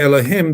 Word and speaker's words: Elohim: I'm saying Elohim for educational purposes, but it's supposed to be said for if you're just using it randomly as Elohim. But I'm going to say Elohim because people should understand exactly how it's pronounced.